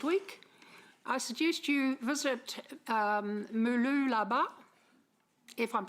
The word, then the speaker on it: Mooloolaba: If you want an excuse to go to Australia next week, I suggest you visit Mooloolaba, if I'm saying it right. Mooloolaba, got it.